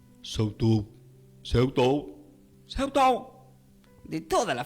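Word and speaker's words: σεαυτοῦ: Investigando qué significa esta palabra de ti mismo del griego, se pronuncia como Seutou. S-E-A-U-T-O-U. Seutou. Que se debe pronunciar como, pueden, quizás digan, Seutou. Seutou.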